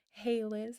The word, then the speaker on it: Hailiiz: It's pronounced Hey Liz.